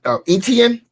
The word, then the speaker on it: Etienne: How you pronounce it? Etienne, Travis Etienne.